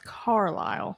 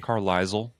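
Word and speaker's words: Carlisle: That is Carile. Carile, Arkansas, with an S. What did I say? Carisel. Caris. Caris. Yeah, but the S is silent.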